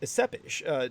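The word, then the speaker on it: Țepeș: With Vladislav Ceppish, however, I'm sure Paula would pronounce his name as Ceppish. T-E-P-E-S in the Romanian would come out with that T-S sound, the kind of Ceppish.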